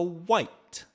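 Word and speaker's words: wight: personality that makes you a white not like the color I know that's confusing it's spelled w-i-g-h-t White or maybe it's wheat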